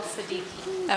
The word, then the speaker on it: Siddiqui: Talal Siddiqui. Okay. Can you just spell that?